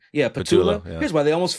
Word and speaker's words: Patullo: Yeah, Patullo.